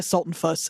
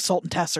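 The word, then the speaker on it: Sultenfuss: It's Veda Sultan-Fuss. It says like Sultan Tess or something, which is weird.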